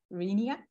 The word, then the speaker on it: Rainier: So actually, I like to come back in spring or summer, and I like to visit Mount Rainier, the right pronunciation.